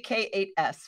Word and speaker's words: K8s: I can spell it, especially when I get to say K8S, right?